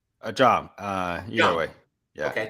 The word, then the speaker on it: Zhang: Zhang.